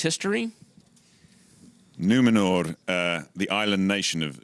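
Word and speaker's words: Númenor: island kingdom of numenor well-pronounced r on the end numenor numenor i don't want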